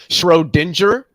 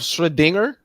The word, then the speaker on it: Schrödinger: I also wanted to say that an immutable notorious for doing this immutable Schrodinger instead of Schrödinger.